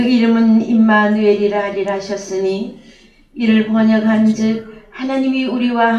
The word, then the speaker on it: 임마누엘: 예 6005 예 그래서 임마누엘이 히브리어 발음은 임마누엘 입니다 그래서 어 우리나라 번역 성경에 임마누엘로 했죠 헬라어로는 엠마누엘 있데 히브리어로에 근거해서 임마누엘이라고